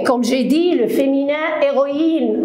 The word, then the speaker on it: héroïne: j'ai dit le féminin héroïne on ne prononce pas le h ça peut être un